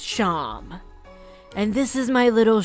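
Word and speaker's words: Seam: The name Sham, pronounced Sham.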